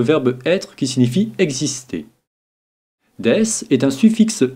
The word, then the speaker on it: です: bien regardons maintenant death des se prononcer deiss est apprenons est un